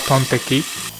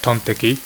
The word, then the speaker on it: tonteki: The teki part comes from Japanese way to pronounce steak, which is like steaki. Steaki, tonteki, get it? So when you put them together, you get tonteki or pork steak.